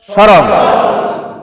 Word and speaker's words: স্মরণ: করে লেখার চেষ্টা করবেন প্রথম শব্দ উচ্চারণ করেন তো স্মরণ ম ফালা উচ্চারণ আছে নাই নাই শ্মশান শ্মশান ম ফালা উচ্চারণ আছে না স্মৃতি ম ফালা উচ্চারণ আছে না নাই তাহলে এই জাতীয় শব্দের ভিতরে ম ফালা কখনো উচ্চারণ হবে না তাহলে মোরাল কথা আমরা